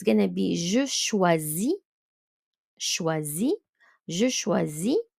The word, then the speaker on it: choisis: So it's going to be je choisis, choisis, je choisis. IS at the end, silent. Tu choisis, il choisit. So OI is a wa sound in French.